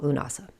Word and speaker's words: Lughnasadh: So whether you call it lunasa, maybe you call it llamas, either way, the wheat is golden, the magic is ripe and it is time to celebrate the work that we've done for us here today. I personally call it Lunasa. So that's that's what I will say moving forward.